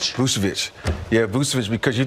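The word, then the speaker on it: Vučević: Vousvich. Vousvich.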